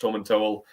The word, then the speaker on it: Tomintoul: There's been a bit of confusion before, but it does say on the back of the tin that it's pronounced Tom and Towel.